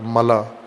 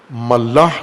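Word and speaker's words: ملأ: ملا کہا جاتا ہے۔ ملا، ملاح نہیں ہے، بعض غلط تلفظ کرتے ہیں۔ ملا، میم لام الف حمزہ، ملا، جیسے خلا ہوتا ہے، خلا، غلط تلفظ خلا کرتے ہیں اردو میں، یا اردو سے ملتی جلتی زبانوں میں خلا نہیں ہوتا، خلا، اور اسی وزن پر ہے ملا۔ خلا اور ملا ایک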